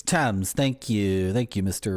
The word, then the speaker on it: Thames: It's not Thames. Is it Tom's? Tams? It is first soaked for 4 days in dark side chocolate stout from Woodstock's Upper Thames. It's Thames.